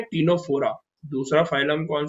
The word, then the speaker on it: Ctenophora: दूसरा जो फाइलम है वो फाइलम है टीनोफोरा। दूसरा फाइलम कौन सा है, टीनोफोरा। इसमें भी सी साइलेंट है, हम सी को नहीं पढ़ेंगे, हम कहां से स्टार्ट करेंगे, टीनोफोरा से।